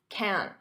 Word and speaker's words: can't: Dodge his cause forever now notice can't in spoken English I'm not going to pronounce that hard can't with the T you can't can't can't Dodge notice here the D